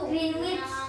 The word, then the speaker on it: Greenwich: Greenwich. Greenwich. Greenwich. Bukan Greenwich. Greenwich. Greenwich. Greenwich.